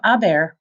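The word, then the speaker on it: haber: you're going to conjugate a bear of course it has to be irregular and don't forget we don't pronounce the H so it's pronounced a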